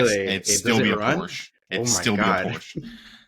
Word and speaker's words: Porsche: Like everybody says, it's supposed to be Porsche. I'll never say that. It's Porsche. I don't care.